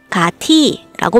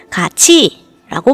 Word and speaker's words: 같이: 그래서 가치를 읽을 때는 가티라고 말하지 않고 가치라고 말한답니다.